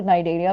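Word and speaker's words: Cnidaria: भी बोलते हैं तो नाइडर भी इसी का ही एक नाम है यस सी साइलेंट है तो ये यहां पर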